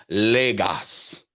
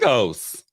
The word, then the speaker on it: Lagos: all right okay oh obi's correcting me it's pronounced lagos i thought it was legos all right well you would know thank you